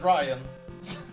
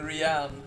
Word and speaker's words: Rian: Oh, you pronounce it as Ryan. I'm sorry, Ryan. I've been saying Rian every time you come by.